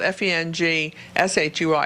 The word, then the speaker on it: feng shui: Even though it's spelled F-E-N-G-S-H-U-I, it's feng shui, okay?